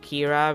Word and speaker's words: Kira: Death Note where like he's called Kira because like that's how you pronounce killer in Japanese.